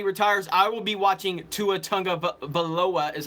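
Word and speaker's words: Tua Tagovailoa: is when Brady retires I will be watching to a tongue of Aloha is how you say his name he's the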